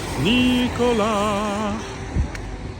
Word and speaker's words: Nicolas: This is France. The S at the end of Nicolas is silent. Nicolas.